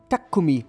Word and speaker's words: Takumi: Takumi, wie die MX-5 Sonderausstattung genannt wird, wird korrekt japanisch eigentlich als Takumi ausgesprochen und lässt sich am besten mit dem deutschen Wort geschickt übersetzen.